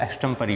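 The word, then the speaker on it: extempore: सी का अगर हम मीनिंग की बात करें, ये जो एक्सटम, ये इसका जो प्रोनाउंसिएशन है वो एक्सटम्परी होगा।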